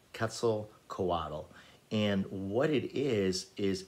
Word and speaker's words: Quetzalcoatl: quetzalcoatl um it is um spanish and it is spelled z a q-u-e-t-z-a l c o a t l ketzel coadle and what it is is a it says